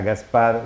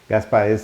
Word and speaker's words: Gaspard: Gaspar, con D al final, no es del Gaspar, termina en D, y creo que la pronunciación... Gaspar. Sí, pero Gaspar, ¿pero qué pronunciación? ¿Es francesa o brasileña? Es francesa más que nada. Es francesa. Pero Gaspar.